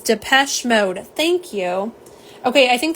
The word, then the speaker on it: Depeche Mode: Depeche, which I can't, you can't say it that way. It won't work. So it is Depeche Mode.